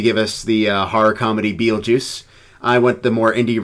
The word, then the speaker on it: Betelgeuse: So, I was first this time around, and it was Beetlejuice, or Betelgeuse, as it is spelled out in, and I think that's what the star is called, yes? Yes, Beetlejuice.